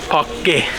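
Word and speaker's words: Park Güell: Right, it's actually not pronounced Parc Güell like I thought it was, but it's pronounced Parc Güell. The double L is silent, so that's cool.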